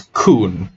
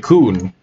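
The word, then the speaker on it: Khun: way everyone pronounced it sounded exactly like that one racial slur right i i would it sounded exactly like the word kun and that is probably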